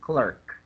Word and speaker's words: clerk: Okay, Okay, so you pronounce it Post, as postal and then clerk. postal clerk. Okay, yes, clerk. Post, yeah. Postal clerk. Yes. Clerk. It's Clerk. not. The sound is like lurk, clerk.